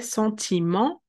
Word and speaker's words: sentiment: So we will say sentiment, and then we drop the T because it doesn't have a vowel to be pronounced.